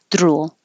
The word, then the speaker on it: drool: touching more than once drool drool that would be the tongue touching multiple times or if it's just too lightly drool drool drool something like that so you want to hear that noise drool jewelry and then the